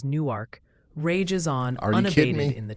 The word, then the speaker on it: Newark: The Great Newark Pronunciation War, NERC versus Newark, rages on unabated in the chat.